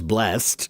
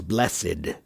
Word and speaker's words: blessed: The word bless is kind of interesting because there are two pronunciations for the past tense of blessed. One is blessed and the other is blessed to have a blessed day. And it's one of the only words I know where the ed has a dual pronunciation and it has that awkward eed pronunciation.